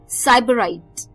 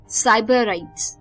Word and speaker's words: sybarites: तो चलिए, जो 13वां वर्ड इस शाम का आ रहा है वो है एक और अच्छा वर्ड, साइबराइट्स. साइबराइट्स, साइबराइट्स, SYBARITES, साइबराइट्स.